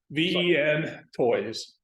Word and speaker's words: Ventoy: Ventoy. VEN toys. VEN toys. Yeah, it is phenomenal. Just toy. Ventoy. Oh, Ventoy.